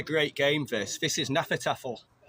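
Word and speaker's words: Hnefatafl: This is Hanafatafl. It's spelt with a H, it's like Hanafatafl.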